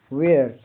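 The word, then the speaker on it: wear: वेयर डब्ल्यू ई ए आर का उच्चारण वेयर। वेयर यह का उच्चारण एक ए की तरह होता है।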